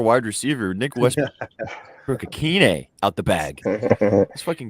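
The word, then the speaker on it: Ikhine: Help me pronounce it. Akine.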